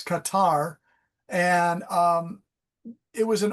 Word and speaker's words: Qatar: Um, the plane went direct from Tokyo to Qatar, which the real pronunciation is Qatar, like a Q8 Qatar. Uh, Americans call it, which makes no sense. It's Qatar.